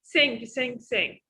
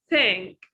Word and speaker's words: think: Accuracy, you mispronounce the word think. It's you said a lot of time in part 1, part 2, and part 3, sing. So you should focus on the sound. It's think.